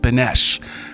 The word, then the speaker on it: Beneš: Oh, here it is, pronounced Beneš, president of Czechoslovakia.